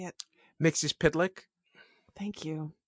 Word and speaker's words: Mxyzptlk: I actually learned because in Super Friends, it was Mxyzptlk was the way they pronounced it, which is wrong.